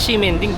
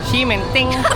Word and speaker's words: Ximending: Cementing talagang bigk cast dito o tea pero pwede naman cimenting.